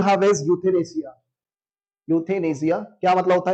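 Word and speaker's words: euthanasia: चलिए next word, last word you have is यूथेनेसिया। यूथेनेसिया क्या मतलब होता है यूथेनेसिया का, ई नहीं पढ़ते इसमें, यू से स्टार्ट होता है, ई साइलेंट रहता है।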